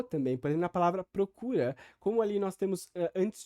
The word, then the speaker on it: procura: o abaixamento da vogal o invés de falar procura como eu diria por exemplo seria procura e há diversos contextos